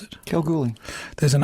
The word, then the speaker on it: Kalgoorlie: with Tim, a gentleman who was born in Kalgoorlie. Is that how you pronounce it? Kalgoorlie.